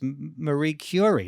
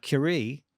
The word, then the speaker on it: Curie: It's It's Marie Cury, not Curie. Marie Cury. Sorry. Had the emphasis on the wrong syllable there. Marie Cury.